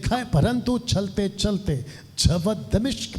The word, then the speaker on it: दमिश्क: इसका ये जो सफर था, दमिश्क, अभी तक हम लोग कुछ और बोलते थे, लेकिन ये राइट प्रोनाउंसिएशन है दमिश्क और दमास्कस, ये इसका इंग्लिश शब्द है दमास्कस।